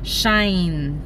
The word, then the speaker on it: Shein: dito nai Tingan natin kung anong meron sa Shine shine daw ang pronunciation non guys Sinearch namin siya sa Google